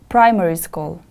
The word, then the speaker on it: primary school: years old primary school the stress is on the first syllable repeat after me please primary school primary school very good